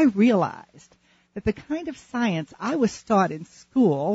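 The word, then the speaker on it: Psience: Jones, who has written an extraordinary book called Science, but it's spelled differently. It's spelled capital P-S-I-E-N-C-E. Science.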